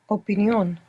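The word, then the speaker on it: opinión: accent on the end so for example in English we have opinion and in Spanish you're going to pronounce syllable by syllable making sure that you're pronouncing the vowels as they're written and you're going to put the accent on the end opinion opinion good passion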